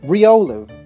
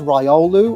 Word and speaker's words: Riolu: tall to be exact Riolu often referred to as rolu or Riu but if that was the case this thing would evolve into Lucario Hound hour I've heard